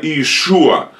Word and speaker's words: Иешуа: Христа Иисуса, Машиаха Иешуа, его имя Иешуа, в русском мы произносим как Иисус, или в украинском так тоже, только пишется с одной И, Иисус, а так Jesus, там Иса, а буквально Иешуа или Иешуа, буквально Иегова Спаситель, Бог